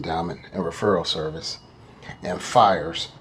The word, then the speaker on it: VHIERS: and referral service and fires spell pH the pH makes the F sound like in big Pharma p i e RS